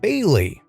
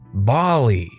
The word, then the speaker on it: Bailey: a fake name here let's say my name is bailey pronounced bailey pretty straightforward right well this teacher always always pronounced it bali it hurt because i